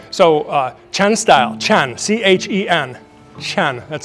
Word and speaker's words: Chen: C H E N. Chen. That's how you pronounce it.